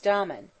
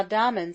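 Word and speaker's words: Damon: most writers state was domin whose name they say should be pronounced with the first syllable short but aristotle said he had a thorough musical training at the hands of pitholides now dahman seems to have been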